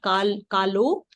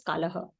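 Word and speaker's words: कालः: Okay, so break is at Kalo, but Kalo is pronounced as Kalaha.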